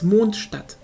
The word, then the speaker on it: Mondstadt: the actual word, like the actual pronunciation of it is Mondstadt. Mondstadt, like the D is a bit hard maybe, but it's not like a hard word, hard sounding.